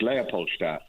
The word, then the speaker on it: Leopoldstadt: Yes, I think it's been said as, Tom's such a trickster because, it's Leopoldstadt is the district.